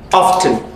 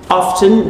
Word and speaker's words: often: 17 yes we have often often the T there is silent sometimes they say so